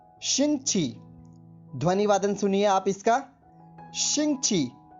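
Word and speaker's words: 星期: उससे पहले आप ध्यान रखिए, ये स्पेलिंग नोट कर लीजिए, XINGQI। एक बार फिर सुनिए, XINGQI। इसका अर्थ होता है शिंगची।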